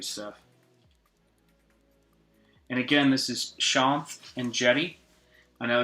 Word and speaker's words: Shanth Enjeti: and again this is Sean and Jenny I know it's always tricky to figure out how to how to pronounce my name is just Sean with a th and I have an